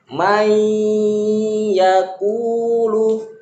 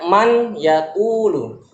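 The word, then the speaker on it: مَنْ يَقُولُ: May yaqulu. Kalau tidak idgham dia dibaca man yaqulu. Tapi karena diidgham, huruf nunnya melebur ke huruf ya. May, bergabung dia pengucapannya may yaqulu, itu yang dimaksud dengan idgham.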